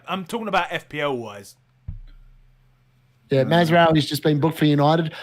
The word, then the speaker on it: Mazraoui: Mazraoui. I'm just impressed you've learned how to pronounce his name.